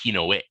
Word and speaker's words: Hinoa: Now, Hinoa's name in Japanese is Hinoe. And with my experience of hearing players mispronounce monster names all the time, I felt some players might call her Hino.